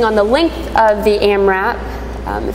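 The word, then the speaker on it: AMRAP: morning Diddy um it it's pronounced am wrap it's as many reps as possible am am WP back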